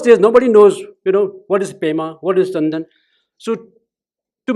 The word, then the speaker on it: Pema: I just pronounce like an Indian actual pronunciation. But in Tibetan, they say Pema, Upe, Tenzin, Tibetan's form of this pronunciation.